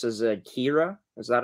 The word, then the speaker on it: Kira: So I forget, how do you pronounce, is it Kira? Is that how you pronounce her first name? Yeah, Kira.